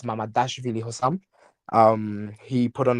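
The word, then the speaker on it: Mamardashvili: It's not Mamavili, it's Mamadashvili Hossam.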